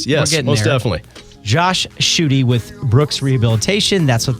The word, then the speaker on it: Schuette: angels's Angels okay so Josh shoy rhymes with booty yes I just like